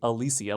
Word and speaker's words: Alicia: It's actually Alicia, which is what I've always thought, which is why the